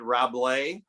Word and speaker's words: Rabelais: rambo and is it roblay r-a-b-l-a ablaze um you're thinking of a french writer named rabelaise yes your no it's rob lay it's a silent s probably is it yes